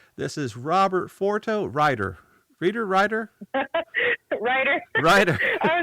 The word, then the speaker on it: Reitter: good so on behalf of my co-host tony reader this is robert forto writer reader writer writer writer i was gonna be